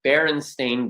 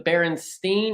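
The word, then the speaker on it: Berenstain: Because most people think it's the Baronstein or the Baronstein because a lot of people believe wholeheartedly that it is st at the end, but it is not. Baron Stain is brie.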